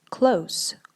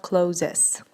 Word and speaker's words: clothes: s in this word here is silent which is why you should say close close okay not closes okay fine clothes um